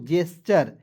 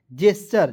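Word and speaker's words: gesture: उसके बाद जी ई एस टी यू आर ई तो इसे पढ़ेंगे दोस्तों जेस्चर जेस्चर जी को ज पढ़ना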